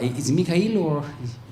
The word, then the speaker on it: Mikhail: Mikhail is in Russian. No, you in Russian are called Mikhail? Okay, Mikhail. The full name. Okay. Mikhail. I like it more. It sounds cool. Michael, it's American.